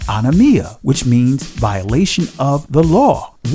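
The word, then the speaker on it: ἀνομία: Remember, the Greek word for iniquity is pronounced anomia, which means violation of the law, wickedness, transgression of the law.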